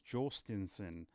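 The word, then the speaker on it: Jhostynxon: Hostison, Jostinson. I listened to his pronunciation. If you go to the Sea Dogs website, they have the players saying their names, and he says Jostinson.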